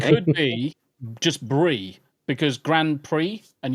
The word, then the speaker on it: Grand Prix: Oh, or it could be just brie because Grand Prix and you don't pronounce the X. It's just an E sound.